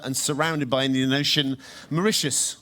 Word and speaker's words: Mauritius: surrounded by Indian Ocean Mauritius also the only country in the world to rhyme with delicious and their new champion